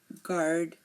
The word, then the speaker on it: guard: um for example colleague guard guest guide guitar here notice you are not hearing the U in any of my pronunciation again colleague guard guest